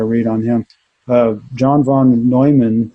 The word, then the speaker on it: Neumann: John von Neumann, I'm going to say it right this time, Neumann.